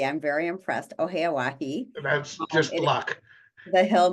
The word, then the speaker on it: Oheyawahi: You pronounced it correctly. I'm very impressed. Oheyawahi.